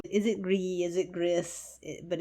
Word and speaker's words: Gris: it green is it griss but it's Greece apparently as far as I can tell it's pronounced Greece because it means gray uh and the idea